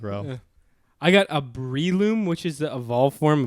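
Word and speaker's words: Breloom: kind of look like rope i got a bree loom which is the evolve form of shrew moosh pronounced braelum brave your i should but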